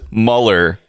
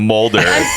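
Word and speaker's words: Mulder: it Edgar but then she says meller instead of Moulder yeah I think I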